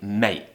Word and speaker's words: mate: now cheers mate now you don't have to pronounce the T at the end of mate it's actually quite common for people to say mate however you need to